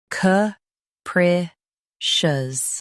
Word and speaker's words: capricious: Today, we will learn how to pronounce the word shown on the screen. ca pre cious.